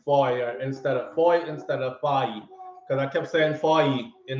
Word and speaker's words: Foy: F-O-Y. His name is pronounced F-O-Y, like Foy, not Fahim.